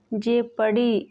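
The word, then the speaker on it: jeopardy: Rule है अगर किसी वर्ड में ईओ या ओ यू आए तो ओ साइलेंट रहता है। For example people, लेपर्ड, जेपड़ी। इन तीनों वर्ड्स में ई के बाद ओ आया है, इन तीनों वर्ड्स में ओ साइलेंट है।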